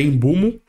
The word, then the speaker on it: Mbeumo: Teve um Mbeumo, só que a pronúncia certa é Embumo, por 65 milhões de libras.